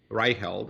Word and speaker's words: Reiheld: One, Ryeld is here. Hopefully I pronounce it close closer this time.